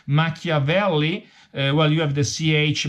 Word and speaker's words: Machiavelli: repeated the Italian pronunciation Machiavelli well you have the CH much of early but the Italian pronunciation is Machiavelli and tie bomba well